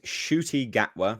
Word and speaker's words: Ncuti Gatwa: His name is Ncuti Gatwa. That's apparently how I've been told you're supposed to pronounce it.